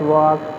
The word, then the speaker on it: walk: You have to pronunciate it where the silent things are given, like that, like we pronunciate talk, the L is silent, like that, walk, that is L is silent.